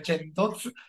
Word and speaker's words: Centoz: Ho pronunciato bene il nome Centoz, Sì, benissimo.